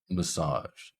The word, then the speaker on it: massage: is our stress syllable so even though we have an A in our word massage it is still pronounced with awah massage massage it's quite quick compared to the a in massage so we have M S